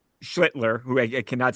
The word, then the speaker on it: Schlittler: purpose so they don't get it right when they It's that first L that's getting me, Job. yep. I cannot get that L in there, so I keep saying Shitler.